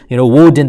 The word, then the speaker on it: Woden: term Wednesday comes from the Greek god Odin. Woden, they pronounced him, and so they honored him by saying Wednesday.